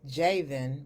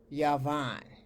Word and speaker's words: Javan: Today, I'm going to discuss what the Holy Bible says about the sons of what looks like Javan, but is actually pronounced Yavan, or the sons of the Greeks in the Old Testament.